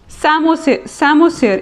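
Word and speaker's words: psammosere: सैमोसियर, इसमें P silent होता है.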